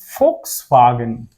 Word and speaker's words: Volkswagen: So here we always call it as Volkswagen. It is Volkswagen. Why it is Volkswagen? Even it is V there, it should be Volkswagen, but here in German we call it as V. That's why it is Volkswagen.